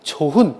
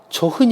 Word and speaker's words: 좋은: " 조은 " 이라 고 해야 하지만 , 모음 으로 끝나거나 모음 으로 시작 하는 접미사 와 결합 할 경우 마지막 자음 "h" 는 발음 되지 않는다는 예외 적 인 문법 규칙 이 있습니다 . 이 규칙 때문 에 " 조헌 " 이 아니라 " 조은 " 이라 고 해야 합니다 .